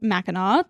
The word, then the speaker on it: Mackinac: By the way, Mackinac is pronounced Mackinac. The city that I believe was named after the island is Mackinac City. Mackinac and Mackinac are both pronounced the same way, but to differentiate, they are spelled differently.